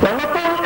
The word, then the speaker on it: വള്ളത്തോൾ: വള്ളത്തോൾ എന്ന് ഇനി ഇനി അതിന്റെ ഉച്ചാരണം തെറ്റാതെ മലയാളത്തിന്റെ അടുത്ത തലമുറകളിൽ എത്ര പേർ ശ്രദ്ധിക്കും എനിക്ക് പേടിയായി തുടങ്ങിയിരിക്കുന്നു.